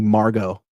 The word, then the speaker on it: Margot: It's kind of I'm nothing against the name Margot, but it's like, I can't even spell that. I don't like, M-A-R, silent T's. Silent T.